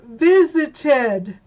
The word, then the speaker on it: visited: Number 2 is visited. I will visit with you today. I visited with you yesterday. Yes. Yes, it adds an extra syllable. Visited. It's got 3 syllables. 3. Visit is 2. Visited is 3.